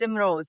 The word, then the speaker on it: Imroz: How do you pronounce the word? You said it perfectly. It's Imrose.